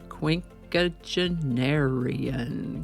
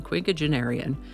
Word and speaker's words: quinquagenarian: on the first try it's just quink genarian quink aarian and if you say